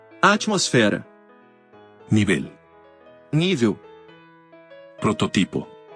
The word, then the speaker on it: atmosfera: Algunas palabras conocidas como heterotónicas son iguales en ambos idiomas, pero difieren en la sílaba tónica. Academia. Academia. Alergia. Alergia. Atmósfera. Atmosfera.